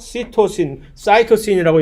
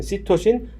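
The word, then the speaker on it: cytosine: 아데닌, 구아닌, 출석, 사이토신이라고 영어로 발음하는 사이토신, 시토신, 사이민이라고 영어로 발음하는 티민.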